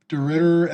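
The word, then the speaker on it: de Ridder: DeRitter at plus 240, and then again um, at plus 200. Is that how you pronounce him?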